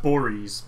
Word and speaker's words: Borys: It's pronounced Boris, but yeah.